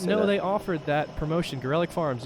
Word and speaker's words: Gorelick Farms: Gorelick Farms, yes, that is how you pronounce it. Really? I didn't know that. What'd you think it was? Said Garlic Farms.